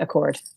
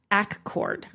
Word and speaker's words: Accord: They took us on a road trip it's spelled like Accord, New York, but you don't say it like Accord, New York. You say Accord. Accord. That sounds awkward. Okay, it's Accord.